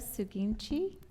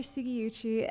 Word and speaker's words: Sugiuchi: Suginchi. Did I say it correctly? Close. Okay. Yeah. Hi, I'm Sugiuchi, and I'm a former